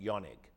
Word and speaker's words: Jaehnig: So, uh I think I think in Germany when I was over there, they say you pronounce it Yanig.